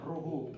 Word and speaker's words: Rojo: Bacanya itu pakai H, Ruhu.